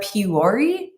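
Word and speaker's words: Puori: rated the best are puree i think that's how it's pronounced like p-u-o-r-i um the one problem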